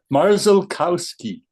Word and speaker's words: Marzalkowski: It ends with a ski. How's that gentleman's name? Marzalkowski.